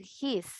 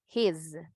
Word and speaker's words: his: No vamos a decir his, sino his, z, z, con vibración. Siempre que ustedes vean ahora esto, ¿verdad? Este es su, ustedes ahora ya saben. Este se escribe con S, pronunciamos con Z.